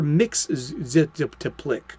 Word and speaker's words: Mxyzptlk: This visitor from another realm was originally known as Mr. Mxyzptlk. 4 syllables. Remember that.